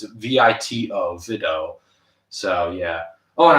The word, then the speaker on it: Vito: I didn't really pronounce it properly. It's Vito, Vito.